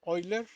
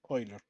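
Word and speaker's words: Euler: último se utilizan de Ben oiler o Ben eer y la pronunciación correcta creo que es oiler bueno la forma tabular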